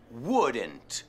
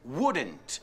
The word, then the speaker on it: wouldn't: La L no se pronuncia. Wouldn't. Wouldn't.